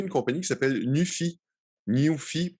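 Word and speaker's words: Nuphy: Nufy, pour le prononcer en anglais, c'est ça très drôle, très mémorable. N-U-P-H-Y.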